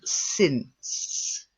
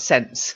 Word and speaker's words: since: um as the leader the first one since since since yes not sense you go and carefully get this at the end okay otherwise if you if you miss out the at the end you've got sin and if you stay there then you've got sense so you've got to get